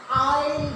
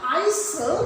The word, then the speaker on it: isle: what does this word i mean first let us learn to pronounce this word correctly it is not iso but it is i and next we go